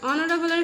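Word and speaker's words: honourable: আবার অনারেবলের ক্ষেত্রে দেখো এইচটা সাইলেন্ট, ওই জন্য অ্যান হবে, যেহেতু অনারেবল ও দিয়ে আসছে বানানটা বা এই অক্ষরটা ওয়ার্ডটা।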